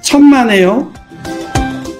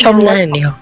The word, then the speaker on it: 천만에요: Pronounce is 천만에요. 천만에요. I'm pronouncing it right. It's 천만에요.